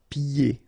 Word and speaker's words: pieds: And then when you get this combination here, it's ye. Pieds. Okay, so you don't hear the D.